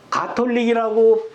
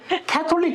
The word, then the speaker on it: 가톨릭: 가톨릭이라고 발음하면은 외국 사람들 하나도 못 모릅니다. 알아듣죠. 가톨릭이 뭐야 그래? 캐톨릭 그러면 알죠.